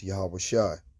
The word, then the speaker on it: Yahawashi: The real name of the son is Yahawashi. Yahawasha, which means he saves, he delivers, he is salvation. Okay, that's how you pronounce the name.